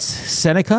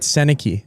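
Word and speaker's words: Sennecke: Brett Seneca, is that how you say it? Yeah, he's good. Beckett Seneke.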